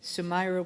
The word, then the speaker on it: Sumaira: Sumaira was very nice because I've been pronouncing her name wrong for this whole time, and she corrected me, and I kept forgetting the little A at the end, so I apologize, but